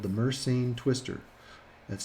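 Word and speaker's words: Mersenne: one is a random number generator called the mercene twister that's spelled n m-e-r-s-e-n-n-e so you can look it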